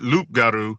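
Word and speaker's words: loup-garou: Can you spell it? Sure. So, so the French the the French uh, is Luparu.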